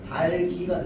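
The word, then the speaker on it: 닭이: 자, 그래서 최종 발음은 어떻게 되는데? 달기가 된단 말이야.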